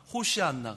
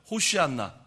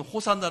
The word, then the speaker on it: 호시안나: 흔든다는 것은 뭘 의미하면서 그 히브리 발음으로 하면 호시안나 그래요 한번 해보세요 호시안나 예 그게 지금은 호산나 이렇게 불려요 이게 무슨